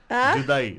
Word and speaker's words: Judai: Say it properly, not CH. J. Judai, not CH, okay? Hey, Altu Baba! What? You said that thing. मैंने नहीं बोला. It is J, Judai.